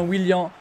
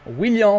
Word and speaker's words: Willian: Et je maintiens que l'on dit bien Willian en brésilien et en français également. On dit Willian quand on sait bien prononcer.